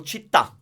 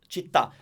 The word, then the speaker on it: città: Okay, so basically, you will find a word that ends with the stressed syllable. Then we'll say, for example, città. Città.